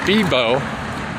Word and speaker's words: Vivo: i also have a vivo also known as fibo in both the philippines and here in ecuador these are pronounced like bees and it's a very